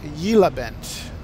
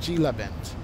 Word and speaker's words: Gila Bend: Oh, pronounce Yela Bend. Okay. Not Gila Bend.